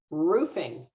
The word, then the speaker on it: roofing: know what those are i want you to be aware of two different pronunciations i say roofing so i use that ooh sound okay yeah or a roofer right so i say ooh not everybody does so